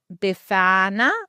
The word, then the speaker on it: Befana: Oh yes, but sorry anyone who's got an Italian background, but Befana I think is how you say it.